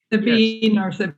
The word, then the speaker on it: Sabine: I have continued to mispronounce your name. It's pronounced sub Sabine. Sabine. Yes.